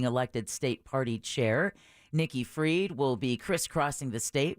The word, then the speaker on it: Fried: give out free weed Rhymes Mickey freed we yeah freed weed um yeah and I think it's pretty it's spelled like fried right yeah it is